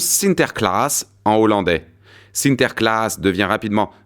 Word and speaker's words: Sinterklaas: Et les Hollandais furent parmi les pionniers qui colonisèrent l'Amérique, emmenant avec eux leurs croyances, dont Saint Nicolas, qui se prononce Sinterklaas en hollandais.